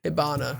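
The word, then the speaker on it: Hibana: being held he not is it hinaba i feel like i've been saying it wrong the whole time ibana i have been saying it wrong the whole time i switched the two it's like hibachi but honestly i just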